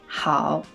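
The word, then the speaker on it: 好: Et la prononciation de ce caractère, c'est Hao.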